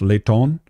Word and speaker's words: Leighton: Well, and in Portuguese, my name, Leighton, is actually pronounced Leighton, according to my aunt, who was a missionary in Portugal.